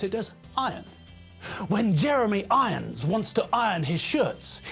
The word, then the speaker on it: Irons: pronounced iron not iron jeremy irons name is pronounced jeremy irons not jeremy irons here's the thing to